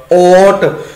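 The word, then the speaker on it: ਓਟ: ते इस करके आप जी नूं जिवें खुले मूँह ओट शब्द बहुत मिलेगा, ओट उस दा उच्चारण ओट करांगे।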